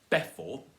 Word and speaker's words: before: Before, it's before, not before. Before. No, before. Stress on the second syllable.